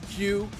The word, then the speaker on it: queue: Queue? Queue. I always say key, but it's queue, in the queue.